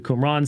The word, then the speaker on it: Qumran: gnosticism stoicism kikero judaism which would include the qumran sect that is how you say quran uh